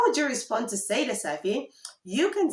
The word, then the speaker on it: sai da safe: Good night is sai da safe. Sai da safe, which literally translates to until morning. Until morning. Sai da safe. Sai da safe. Now, how would you respond to sai da safe?